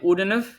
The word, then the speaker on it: wouldn't have: এখানে উডেন্ট হ্যাভ, আমরা যদি স্ট্রাকচার ওয়াইজ যাই তাহলে উডেন, এখানকার টিটা আমরা জাস্ট সাইলেন্ট রাখছি, আর শেষে হ্যাভের ভিইটা আমরা নিচ্ছি আর কি, উডেন্ট হ্যাভ, উডেন্ট হ্যাভ এটা বললে এক্স্যাক্টলি হয়ে যাবে।